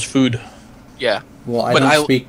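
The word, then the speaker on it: Füd: It's not actually pronounced FUD, though. There's an umlaut there, so it's food.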